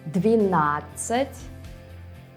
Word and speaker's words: двенадцать: Двенадцать, 20. Both of them end with цать. And by the way, this is an old word for 10. But look, двенадцать, 12, has an extra syllable, на.